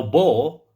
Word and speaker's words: bow: Now bow rhymes with cow. Rhymes in pronunciation.